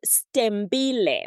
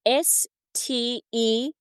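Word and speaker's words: Sthembile: So it's pronounced Stembile, which means there are many silent letters in there. So it's Stembile, Stembile, which Okay. which means hope.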